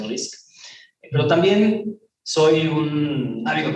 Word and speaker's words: RI5C: Se escribe RI5C, pero se pronuncia RISC.